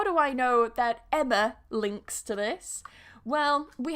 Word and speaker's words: Emma: So yes, here we've got Emma, which is with a schwa, Emma. So a lot of people, that's supposed to be a schwa. A lot of people say my name like Emma with a very open ah, but actually in English it's with a schwa, yeah? Emma.